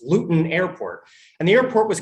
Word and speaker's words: Luton: from london i had to look up the pronunciation but it's luton airport and the airport was closed because the